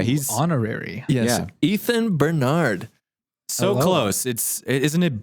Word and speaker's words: Benard: Ethan Benard. So Hello. close. Isn't it Benard? It is Benard. It's Benard. Emphasis on the first syllable, Yeah, right.